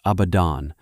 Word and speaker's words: Abaddon: In the Hebrew of an earlier age, the syllables were spoken as abadon, drawn from a verb that means simply to perish, to vanish, to be undone.